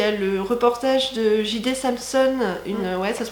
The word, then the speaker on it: J.D. Samson: D'ailleurs, si le cœur vous en dit, il y a le reportage de J.D. Samson, ça se prononce comme ça, une des meufs qui était